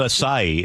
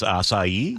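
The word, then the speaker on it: açaí: Not acai, it's acai.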